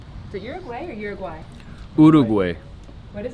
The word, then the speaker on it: Uruguay: to customs so that we can cross into Uruguay. Is it Uruguay or Uruguay?